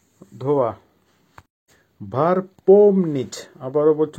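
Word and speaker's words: помнить: এর বাংলা হবে ওয়াশ করা বা ধোয়া ভার্ব পম নিচ আবারো বলছি উচ্চারণ হবে পম নিচ পমনিচ এর বাংলা হবে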